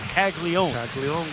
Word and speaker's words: Caglianone: It's spelled Caglianone, like Caglianone, but it's just Caglione.